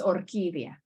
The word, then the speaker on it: orquídea: It means orchid, so it's orquídea.